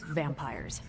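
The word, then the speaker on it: vampyres: Pronounced exactly the same as vampires.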